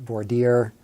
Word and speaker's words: voir dire: conducted voir dire and more dire is is jury selection that's what it is it's it's a fancy French or what it does some people pronounce that for dear it's basically jury selection